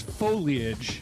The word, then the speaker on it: foliage: It's foliage. Foliage. It's three syllables.